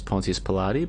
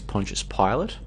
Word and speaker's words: Pontius Pilate: Pontius Pilate, which I used to pronounce as Pontius Pilate, but apparently it's Pontius Pilate.